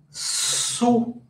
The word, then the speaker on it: sous: Entonces, aquí me dice, sous la pluie, sous, miren cómo se escribe, rappelez-vous, S-O-U-S, O-U se pronuncia U como la U en español.